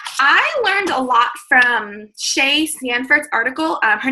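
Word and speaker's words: Seay: learned a lot from Shea Sanford's article her name if you want to look it up it's s-e-a-y and it's pronounced Shea um Stanford's article on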